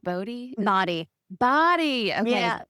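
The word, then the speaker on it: Bodi: Is it pronounced Bodhi?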